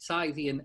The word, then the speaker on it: Scythian: was the armenian and scientia i think that's how you pronounce it scythian empire and it produ push